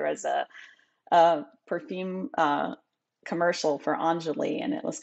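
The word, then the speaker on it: Enjoli: There was a perfume commercial for Anjali and it's spelled E-N-J-O-L-I.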